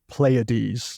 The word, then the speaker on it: Pleiades: So I banged it into Google, and the lady on Google, told me that it was pronounced Pleiades.